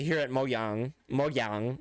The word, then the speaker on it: Mojang: I prefer to just use the Y pronunciation.